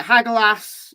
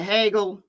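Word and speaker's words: Hagalaz: So it's pronounced different ways in different. So you can call it Hagelas, you can call it Hegel. In Old English, it's Hegel. In Old Norse, I think you pronounce that Hagel.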